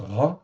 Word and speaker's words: רע: Donc ça se prononce ra hein, comme en français.